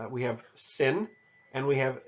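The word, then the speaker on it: שׂ: Sin makes an S sound, and shin makes the SH sound.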